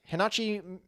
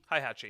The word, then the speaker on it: Heihachi: And for the PlayStation 2, you had Hinachi. How do you pronounce that name? Mishima? Heihachi. Mishima. Heihachi? Heihachi.